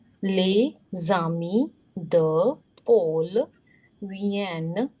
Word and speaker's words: viennent: Les amis de Paul viennent, ENT is silent here, viennent ce soir.